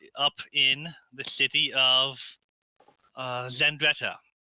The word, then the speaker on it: Zandreta: in the city of Zen Greta I pronounce the member from the Indiana Jones movie Alexandra yeah the first part of that so the city's called is in Greta is a city that